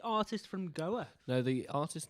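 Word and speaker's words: Go_A: chanting say artist from Goa no the artist name is Goa and it's actually pronounced as go a in English uh the group name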